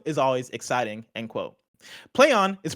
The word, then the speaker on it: Plaion: always exciting end quote play on is pronounced exactly exactly as you would expect like quote play on a phrase stop stop these [